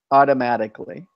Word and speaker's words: automatically: there the problem is in Spanish you say all the syllables in English one of the syllables disappears so in in Spanish is automatic meant a in English it's like automatic meant a the egg just goes away that syllable is gone automatically automatically yes yes